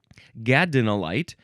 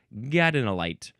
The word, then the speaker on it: gadolinite: Gadinolyte G- A D O L I N I T E.